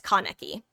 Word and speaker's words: Kaneki: And by that I mean, some of my most enjoyable Kaneki matches have been when I'm not even pronouncing Kaneki right, by the way. It's Kaneki.